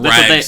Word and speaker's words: Regs: Oh, Regs. That's what they kept calling them. Oh. I thought you were trying to say Rex and you said it wrong.